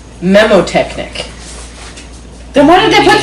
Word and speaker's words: mnemotechnic: So the N is silent. So it's memotechnic.